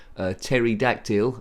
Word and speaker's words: pterodactyl: Pterodactyl, I think was his name. And yes, pterodactyl spelled with a P.